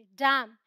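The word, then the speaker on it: damn: Rule क्या है, एन is silent after M, simple, M के बाद आएगा एन तो साइलेंट रहेगा, हम सिर्फ और सिर्फ प्रोनाउंस करेंगे। तो ये है ऑटम, कॉलम, डैम, हिम, हम डैम, हिम्न ऐसे नहीं बोलते, डैम, हिम। क्लियर?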